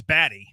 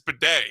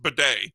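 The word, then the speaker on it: Badie: It's pronounced because it it reads baddy. It's not bad. It's bedet.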